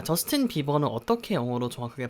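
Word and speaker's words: Bieber: 그래서 우리 말로는 이번 하고서 더 있어서 비버 비버 라고 짧게 바람 할 수가 있는데 사실 영어로 발음할 때는 b 입어 처럼 발음을 해 줘야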